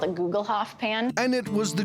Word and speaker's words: Gugelhupf: It's called a Gugelhof pan.